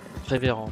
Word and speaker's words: Révérend: Révérend, plutôt, je devrais dire. Révérend, c'est pas son nom, alors faut pas le prononcer à l'américaine.